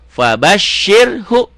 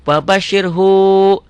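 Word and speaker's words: فبشره: masuk ke syin fabasyir fabasyir hu ah ini aja kalau pemula kadang-kadang di sini dibacanya wabasyirhu enggak boleh yang panjang itu kalau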